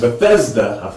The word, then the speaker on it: Bethesda: but it's it's definitely Bethesda is correct and Bethesda you gotta pronounce the the middle syllable there is uh familiar